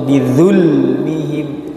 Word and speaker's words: بظلمهم: Bizulmihim. Hati-hati jangan berubah menjadi huruf bod atau zal atau dal atau malah zai. Bizulmihim atau bizulmihim atau bizulmihim, tapi bizul ya, bizulmihim.